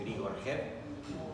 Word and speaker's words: Grigorjev: Si me permiten, bueno, mi nombre es Grigoriev, se pronuncia así, el apellido tiene una J en el medio, es Grigorjev, así como la ciudad de Kiev, que se escribe KJEV, corta.